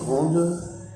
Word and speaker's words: grande: Dans la prononciation, effectivement, grande. Quand on dit un grand garçon, on ne prononce pas le D. Et quand on dit grande, on prononce le D.